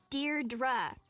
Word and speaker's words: Deirdre: or something hi didi Deirdre I know it's got that tricky second syllable but I figured it